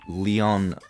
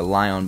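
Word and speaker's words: Li-ion: will tell me it's a leon or lion battery depending how you say it and also that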